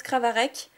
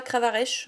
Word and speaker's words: Kravarech: Après le lien Spiritual Selection Reverse et derrière, Kravarek en rare. Oui, donc pour ceux qui se poseraient la question, ça se prononce Kravarek et pas Kravarech.